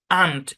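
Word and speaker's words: aunt: মিলে উচ্চারণ হবে অ, কিন্তু এখানে মানে এই শব্দের মধ্যে এটা অ হবে না, এটা হবে আ। আন্ট, এই শব্দের উচ্চারণ কি আন্ট, অন্ট না, বলে দিচ্ছি। হ্যাঁ, মূলত আন্টি একটা শব্দ আছে না, আন্টি, আন্টি, আসসালামু আলাইকুম আন্টি, কেমন আছেন? এই যে আন্টি যে শব্দটা, ওই আন্টি শব্দকে সংক্ষেপে আন্ট লেখা হয়। বুঝছেন? আন্ট। আবার এটাকে আমেরিকান ইংলিশে অ্যান্ট বলে। এর দুইটা উচ্চারণ, আন্ট অ্যান্ড, দুটাই হয়।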